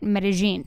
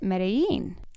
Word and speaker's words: Medellín: territorial about it it's why in meta-gene they pronounce it meta-gene right and if you're not from meta-gene you might pronounce it medellin right and the locals meta-gene yeah okay maybe